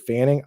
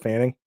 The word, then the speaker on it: Fannin: Start Musgrave or look at Fanning. I'm probably just going to go with Harold Fanning. Mhm. Harold Fannin. I don't know why you've tricked Mm. me into saying his name wrong.